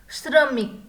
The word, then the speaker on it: श्रमिक: वैसे ही next picture है श्रमिक का। किसका? श्रमिक। श्रमिक में श्र, श्र कैसे बनता है? उसका उच्चारण कैसे होता है? सब आधा प्लस र आधा प्लस अ, श्र, श्र।